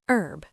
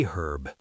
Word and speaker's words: herb: Like the word herb. In American English, the H is silent, so it's an herb. But in British English, they pronounce the H, so it's a herb.